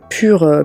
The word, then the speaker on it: Purc: en à nos moutons la marque pure pur c'est pure folie pure que c'est très moche a prononcé pur c'est donc amis très